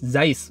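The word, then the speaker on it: Zeiss: kamera kayak hassleblade leika Zis eh bukan zeis zais bacanya zais Yang benar ya eh Memang agak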